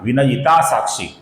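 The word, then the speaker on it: विनयितासाक्षी: ये एक कंटीन्यूअस नाम है दोस्तों। ये एक सिंगल एक ही नाम है। कुछ लोग इसका विनयिता और साक्षी ऐसा अलग-अलग उच्चारण करते हैं। ये दो अलग-अलग नाम नहीं है दोस्तों। ये एक ही नाम है। विनयता साक्षी और इस नाम में वि ह्रस्व है। ये ह्रस्व है। किंतु क्षी दीर्घ है दोस्तों।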